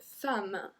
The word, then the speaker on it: femme: Une femme. Une femme. So we don't say une femme or une femme, I guess.